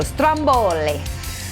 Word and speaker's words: stromboli: and funny thing too we pronounce it the same way here as they would the volcano in italy so stromboli i'm working on my italian accent all right we've got